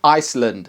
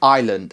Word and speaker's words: island: Silent letters. Salmon, Iceland. Salmon, Island.